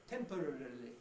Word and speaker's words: temporarily: it depends and uh temporarily has gone got shortened in the last 30 years there's still one or two clever people around in the bbc can actually manage to say temporarily but when they do it i can almost see the smile of satisfaction they say got all the syllables out but they're the only